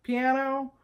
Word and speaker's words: piano: right number four piano now I know we all say piano and you can say piano but it's really piano right piano it has a high ah piano that's one of